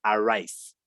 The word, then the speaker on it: arise: zoom date cuenta que este primer verbo se escribe como aris pero se pronuncia a raíz y te das cuenta